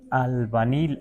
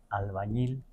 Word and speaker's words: albañil: así, amán no ti albanil. Así le dijo albanil porque no podía pronunciar albañil porque la ñe no existe en el now ninguna palabra tiene ñe.